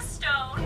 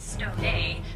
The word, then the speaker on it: Stone: Hello, this is Stone. That's Stone, not Stone A. The acento is silent.